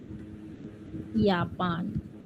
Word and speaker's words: Japan: Although J is called as yacht, but whenever letter J is present in any of the German words, it gives the sound of Y or Y.